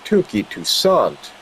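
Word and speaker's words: Touki Toussaint: Tuki Toussaint.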